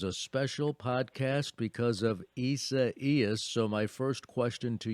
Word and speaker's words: Isaias: pronunciation for ece is if you say buenos dias first then you can is kind of just flows off your tongue it does i have